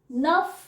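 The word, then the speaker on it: neuf: ठीक है तो आगे जो है वो है नफ एन ई यू एफ नफ याद कर लो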